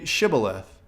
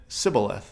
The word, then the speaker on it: Shibboleth: they said to him then say Shibboleth and he said sibila 'the for he could not pronounce it right then they seized him